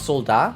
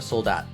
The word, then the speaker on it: soldat: the t then because i know a lot of french words uh you don't pronounce like t's at the ends of words so it's solda or soldat there's a a